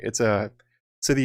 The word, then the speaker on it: Sithi: Sithi is how you would pronounce it phonetically, basically.